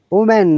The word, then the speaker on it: women: to you woman okay i'm playing the british ipa women not oman remember women women woman woman it is like this uh i've written it women woman but when it is plural the sound is women okay i'm going